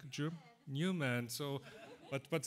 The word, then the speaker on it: Neumann: Neumann, you pronounce it like a German? Newman.